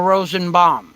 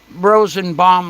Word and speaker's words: Rosenbaum: song but if you if you take this word Rosen bound you can pronounce it b a u m bound or if you were Jewish and you grew up in New York City you could pronounce it Rosen Bal or Rosen Bal b o not not Rosen bomb like BB not like a bomb but it would sound like the word bomb this is a play